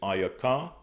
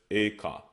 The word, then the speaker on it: Eka: We have Lamentations, which is Ayaka. Ayaka. They pronounce as Eka.